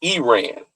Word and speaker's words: Iran: Number one, the first reason is preventing a nuclear threat since 1979 and it's pronounced the proper pronunciation is Iran.